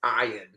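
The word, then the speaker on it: Ioan: plays Finn what's thaton it's ion is I'm sorry I apologize ion he's the only ion don't know why you spell it Ian then he's a recurring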